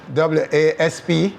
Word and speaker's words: Wasp: last name you're was spelled w-a-s-p yes pronounced was though yeah that's jamaica for